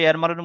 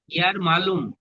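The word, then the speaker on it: يرملون: ইয়ার মালুম নাকি জি বলছেন জি, আপনি? ইয়ার মালুন। এখানে ইয়ার শব্দটা লেখা মালুম। আছে, আচ্ছা। দেখুন, ইয়ার মালুন বানান করে লেখা আছে, ইয়ার ও ইয়ার, মিম জবর মা, ইয়ার মা, লাম ও পেশ, লু, নুন আছে, ইয়ার মালুন, যার মধ্যে 6টা অক্ষরও চলে এসছে।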